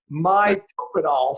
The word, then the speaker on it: Mitopinol: Because first of all, I went Mito and Pinol, and so you said, oh, it's Mitopenol. So I was like, okay, I'm going to mispronounce it.